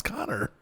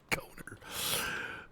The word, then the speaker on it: Connor: And I'm like, no, I guess she just doesn't know how to pronounce Connor. Coner. Oh, it's very weird.